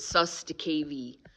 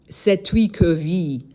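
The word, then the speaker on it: Cestui que vie: It's Old French, and they call it sus de KV, and that's not the correct pronunciation.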